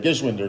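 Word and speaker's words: Geschwinder: former sand viper chris geshwinder played with our all-star sand viper travel team i'm glad you went with that last name there 10 years ago i learned how to say it gishwinder gives one to this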